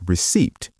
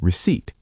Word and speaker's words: receipt: Note, the P in receipt is silent. You don't say receipt. You say receipt.